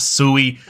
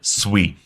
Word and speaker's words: Sui: sweet and first off what's how is it pronounced it is Sweet It Is Not sui I've been corrected multiple times so if you